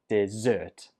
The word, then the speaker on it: dessert: This word is just pronounced dessert.